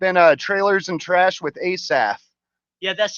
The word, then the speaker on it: Asaph: That is spelled Asaph. That's my first name. The PH has an F sound.